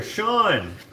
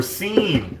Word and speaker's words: Sean: dude that's my twin brother sean or seen when people say it wrong hey sean i'm assuming